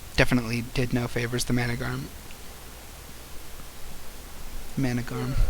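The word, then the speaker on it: Managarmr: Managarm. Managarm. Why does it have a second R in there? That Managarm. If it's just pronounced Managarm, why?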